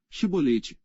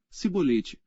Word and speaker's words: chibolete: não então lhe diziam dize pois chibolete porém ele dizia sibolete por não o podia pronunciar bem então pegavam dele e